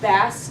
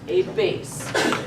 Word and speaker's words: bass: is not pronounced the bass clef this is not a fish this is pronounced like read instrument a bass capisce y'all wait there